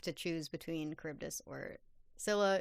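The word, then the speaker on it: Scylla: choose between Kibbus or Sila is how we're pronouncing it in the show.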